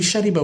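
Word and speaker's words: شَرِبَ: It's understood what you're trying to say, but it should be shariba with a kasra and not sharaba with a fatha.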